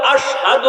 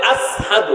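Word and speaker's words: أشهد: ও ভাই একদিন সাহাবায়ে কেরাম বলতেছে নবী গো ওগো নবীজি বেলালের আজান তো শুদ্ধ না কেন বেলাল তো আশহাদু বলতে পারে না বেলাল বলে আসহাদু উচ্চারণ করতে পারে না আশহাদু কয় না কয়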